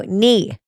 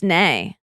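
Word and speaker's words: née: No, knee. It's nay in French because it has an N-E-E.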